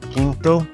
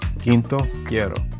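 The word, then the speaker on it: quinto: So Q will always sound like a C as in kinto kinto. So you don't pronounce the U.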